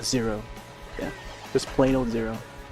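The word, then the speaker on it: ゼロ: Yeah, just plain old Zero. Zero pronounced in the Japanese way. Even though it's like an English word or number.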